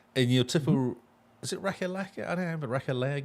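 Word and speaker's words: Ratalaika: I've always pronounced it Retallica, Oh, but actually, Well, it's spelled. is it R-A-T? Let me look how it's spelled. Got it here. It's R-A-T-A, Rata, L-I-L-A-I-K, K-A. Retallica, Retallica. I think.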